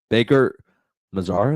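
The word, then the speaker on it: Baker-Mazara: Baker Mazar is how you say it. Baker Mazar, he was playing out his mind.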